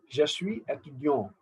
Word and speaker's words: je suis étudiant: The is S is silent in je suis, last S. But because of étudiant, A, S will not remain silent. It becomes je suis étudiant.